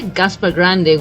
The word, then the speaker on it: Gaspar Grande: That's how we would normally say it. Actually, you say Gaspar Grande, which I think that's exactly the correct pronunciation. Gaspar Grande, if I have to sound more Spanish. But most people here will say Gaspar Grande. You know, similar to Sangre Grande. We're going to reach that just now, but it's Gaspar Grande.